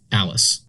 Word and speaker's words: ALISS: For example, the spelling of the Alice departure is pronounced Alice.